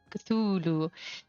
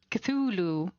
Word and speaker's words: Cthulhu: People have been wondering how do you pronounce this? And then Lovecraft went and uh I mean before before he passed of course um and tried to explain that is not supposed to be pronouncable for human tongues and throats um because it is